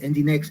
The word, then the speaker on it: Nginx: El mismo servidor Apache o el Nginx, Nginx en realidad se pronuncia, tienen la posibilidad de distribuir carga, de manejar carga a través de proxy reverso.